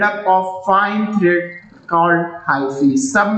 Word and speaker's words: hyphae: Hi-fi भी बोल सकते हैं इसको, हाइफी क्या बोलते हैं इसको, प्रोनाउंस हाइफी, ठीक है।